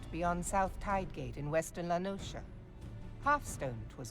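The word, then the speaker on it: La Noscea: south tidegate in western la notia half stoned was called it's pronounced lenotia some years prior to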